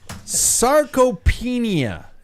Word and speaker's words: sarcopenia: Sarcopenia. Did I Nailed it.